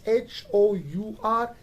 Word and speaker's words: hour: While on the other hand we have a word that is spelled as H-O-U-R, not hour, but it is R. H is not pronounced here.